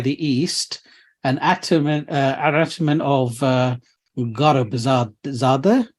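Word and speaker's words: Gharbzadegi: I hope the audience will forgive me, which basically translates to struck by the east, an atman of Garabzadeh. Garabzadeh is how you pronounce it?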